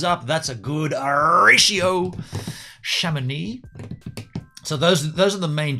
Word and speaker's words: Chamonix: Is that it's Chamonix, right? Chamonix. Chamonix. I can feel something coming up with that. Chamonix van. Hey, by the way, 6 watching and 6 thumbs up. That's a good ratio. Chamonix.